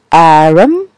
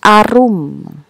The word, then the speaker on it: Arum: nama anda misal misal nama anda Arum lalu disebut RM Anda bisa mencoba menegurnya dengan aculyn it's our room atau bisa juga acuy